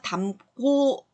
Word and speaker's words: 담고: 자, 미음으로 발음되는 어간 받침이잖아요. 뒤에 기역이 왔어요. 그래서 담고 발음하기도 힘들어요. 그래서 된소리가 나서 담고 이렇게 발음을 하는 거예요.